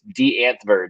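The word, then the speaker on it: Die Antwoord: you know d-i-e-a-n-t w-o-o-r-d it's d anth-bird is the way they pronounce it i guess over there but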